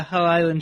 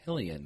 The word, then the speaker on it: Hylian: How do you say that? Shield? Hull Island? It's Hylian. I always said Hylian. Hillian? Yeah, it's Hylian.